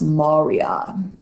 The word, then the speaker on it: maria: and Marya it looks like Maria but it's pronounced Moria the Highlands are this this whitish looking regions